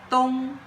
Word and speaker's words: 东: And the pronunciation is dōng, which means east or eastern.